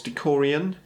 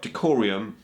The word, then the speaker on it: Decurion: And then you've got Decurion, which I can never seem to pronounce very well. Decurion, I think it's Decurion.